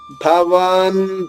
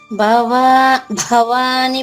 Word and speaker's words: భవాన్: భవాన్ భీష్మశ్చ కర్ణశ్చ. చెప్పండి. భవాని భీష్మ. నీ పలకూడదు, నీ అందుకే మళ్ళీ చెప్తున్నా మీకు. భవాన్ అంతే, నా పుల్లుగా చెప్పాలి.